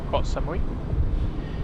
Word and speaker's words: Koh Samui: Koh Samui, as it should be pronounced.